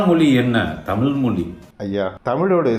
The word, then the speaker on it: தமிழ்: என்ன தமிழ் மொழி ஐயா தமிழோட சிறப்பே லகரம்தான் அந்த ழகரத்தை நீங்க தமிழ் என்று சொல்கிறீர்கள் மொழி என்று சொல்கிறீர்கள் பழைய என்பதற்கு பழைய என்று சொல்கிறீர்கள் முதலில் அந்த ழகரத்தை சரியாக உச்சரிக்க கற்றுக்கொண்டு பிறகு இந்த அறிவுரையை மக்களுக்கு